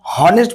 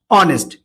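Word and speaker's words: honest: আমরা হনেস্ট বলছি না, অ্যাকচুয়ালি এইচ এর উচ্চারণ হচ্ছে কি হ, কিন্তু আমরা এখানে সাউন্ডে কি বলছি, অ, তাই না, অ, অনেস্ট।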